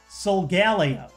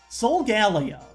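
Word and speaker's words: Solgaleo: solo um but I swear he said like Soul Galo Soul Galo Soul Galo like he repeated each one three times I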